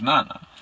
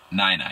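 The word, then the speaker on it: 奶奶: Her grandmother's name is Nana, or Nani. Nai-Nai. I think I pronounced it so wrong. I think I am. Yeah, let me make sure I got it right. Nai-Nai, yeah.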